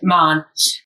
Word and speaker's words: Mahon: So it's Irish, but we pronounce it the English way. So a bit strange. Mahon.